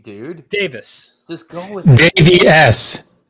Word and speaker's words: Davis: like a butcher in your name is it Davies don't start man you finally you finally got it right dude Davis Just Go With It JVS is the correct